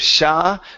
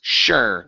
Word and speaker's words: sure: Instead of sha, the word is sure. Give me an R, sure.